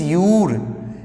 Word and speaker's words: you're: है तो गाइज इसको हम लोग यूर, it's pronunciation is यूर।